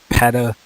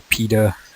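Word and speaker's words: peta: number of different prefixes pata or pita depending on how you pronounce that one that's the next one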